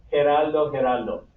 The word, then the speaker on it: Geraldo: La G se pronuncia así, G. Geraldo.